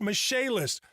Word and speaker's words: Michaelis: quality and general contracting spelled m i c h a e l i s pronounced mache list call 844 fix indy